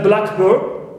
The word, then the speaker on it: blackbird: So when it is used like here, right, as a compound noun, word, together, right, here we stress the first part. But if you use it as a noun phrase, it means a blackbird, any bird which is black, here I stress the second element.